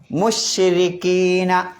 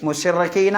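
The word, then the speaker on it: مُشْرِكِينَ: എന്താ മുഷ് അല്ലേ മു മുശ്രിക്കീന അപ്പൊ മുശ്രിക്കീന രി എന്നാണ് ഉച്ചരിക്കേണ്ടത് റി എന്ന് വെച്ച് മുഷ്റക്കീന എന്ന് പറയാൻ പാടില്ല എന്നർത്ഥം മുശ്രിക്കീന മനസ്സിലായില്ലേ അതുകൊണ്ടാണ്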